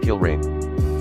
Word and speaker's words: Gilray: with a guy named gilray pronounced kill rain I don't know if